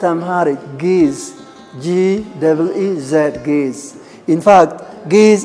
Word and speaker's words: Ge'ez: Again, the language, not Amharic, Ge'ez, G-E-E-Z, Ge'ez.